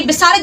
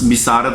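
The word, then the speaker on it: بصارت: नहीं चल रहा, इसकी बिसारत जवाब दे गई है। ओए आंटी एक तो तुम्हारी प्रोनाउंसिएशन बहुत गलत है, और बस बिसारत नहीं होता बसारत होता है, बाब ज़बर है आंटी।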